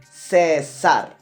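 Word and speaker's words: César: For example, my name, Cesar. Cesar. 2 syllables.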